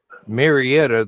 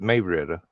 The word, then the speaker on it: Marietta: Um, if you say Marietta, they know you ain't from around there cuz they call it Meretta.